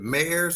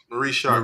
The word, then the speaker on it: Marie Sharp: Is it Mares or Mars? It's Marie Sharp.